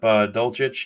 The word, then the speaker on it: Dulcich: And we brought up Dulcich.